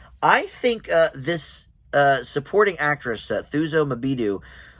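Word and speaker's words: Thuso Mbedu: But also, I think this supporting actress, Thuso Mabidu, I believe is how you would pronounce it, could get a supporting actress nomination.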